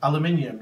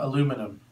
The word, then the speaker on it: aluminium: zed not a z you also pronounce words wrong here I parked my car in a garage not a garage and our foil is made of aluminium not aluminum the spelling is also